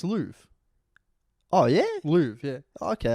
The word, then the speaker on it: Louvre: No, it's Louvre.